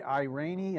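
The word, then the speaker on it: Irani: of thing that Ray I rainy i believe is the way he pronounces his name from occidental petroleum which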